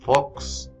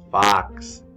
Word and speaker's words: fox: la fucks no es fox es pax tiene el sonido de la a en vocales cortos la o se pronuncia